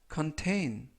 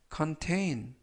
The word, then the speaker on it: contain: contain, contain, contain 이라고 발음하시면 되겠고요.